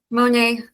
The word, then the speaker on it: Monet: Yeah, and it's Monet, the French. Yeah, I know. I want to be a good boy. I want to pronounce it the American way, and it's a mistake because it's a it's all good.